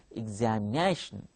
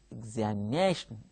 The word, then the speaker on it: examination: syllables in this world how to pronounce it examination while you are dancing this becomes like this examination examination you see observe generation